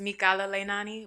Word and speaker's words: Mikala Leinani: the people know your name girl well it's mikala leinani but i do go by because a lot of people can't pronounce that say it one more time yeah